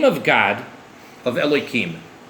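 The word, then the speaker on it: Elohim: Now it's actually not pronounced that way, but because I prefer not to actually enunciate and pronounce God's name in the Holy Tongue, in the language of the Bible, so we alter the pronunciation. So really, instead of pronouncing it with a k sound, it would be pronounced with the h sound. So instead of a k, it would be an h.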